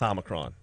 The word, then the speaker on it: Omicron: And yes, I will start pronouncing it the way she pronounced it. Omicron. It's Omicron.